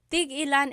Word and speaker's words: tig-ilan: So tig ilan, when there's a hyphen in it, you have to have that glottal stop.